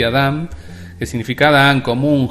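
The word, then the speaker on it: אָדָם: la primera que me interesa es adam se pronuncia así y adam que significa da en común gente humano persona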